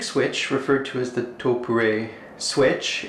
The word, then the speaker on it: Topre: In English it's written as something that could be pronounced as Topre, Topre, or something like that, but the company's actual name is Topre.